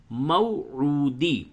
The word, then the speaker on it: موعود: عو، دال زیر دی، موعودی، والیوم الموعود، عین کی ادائیگی پہ دھیان دے، موعود، موعود، والیوم الموعود، اور قلقلہ کرے دال پہ، جب وقف کرے تو قلقلہ ہوگا، والیوم الموعود۔ آیت نمبر 3، وشاہد